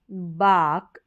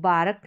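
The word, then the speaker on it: bark: फिर यहां है काड बाक अब जैसे इसको बारक नहीं पढ़ेंगे बाक तो आर साइलेंट आ रहा है यहां पर और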